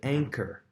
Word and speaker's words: anchor: Next word is anchor. Anchor obviously has the ch there and makes the k sound like echo did.